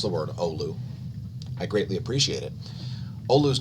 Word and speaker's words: Oulu: to ullah odrop for teaching me how to pronounce the word olu i greatly appreciate it oleus neutron monitors flat